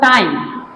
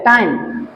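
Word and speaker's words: time: যেমন দেখো টাইম, ম আসছে লাস্টে, টাইম ই এর সাউন্ড আসছে না, ই সাইলেন্ট। হোম, ম আসছে, ই সাইলেন্ট।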